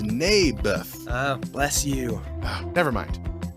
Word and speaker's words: Naboth: that's what i said mayberff i think you're saying it wrong his name was neybeth ah bless you never